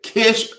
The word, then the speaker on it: Kish: Kish rhymes with wish.